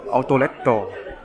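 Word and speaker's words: アウトレット: Thì outlet này đọc là Autoletto.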